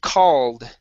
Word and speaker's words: called: next is the word called right here instead of cool cold that would be oh it's cold outside okay this is an ah sound called called good one more